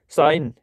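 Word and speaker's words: sign: फिर जी साइलेंट किस में रहता है प्यारे बच्चों? साइन है ना, साइन है ना, ये जी जो है क्या रहता है? साइलेंट रहता है प्यारे बच्चों।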